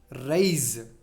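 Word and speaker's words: raise: Rise. Even though S is placed there, we should pronounce it as Z. Z sound.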